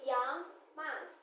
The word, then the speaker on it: llamas: Double L is pronounced like a ya. So llamas.